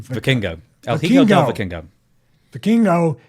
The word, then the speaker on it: Vikingo: After WWE bought controlling interest in AAA, Dave described, how do you pronounce his name? Vikingo.